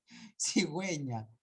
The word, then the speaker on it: cigüeña: yo no es cierto solo cuando estés a diéresis recién se va a hablar se va a pronunciar la u where we belong cigüeña lingüística acá no acá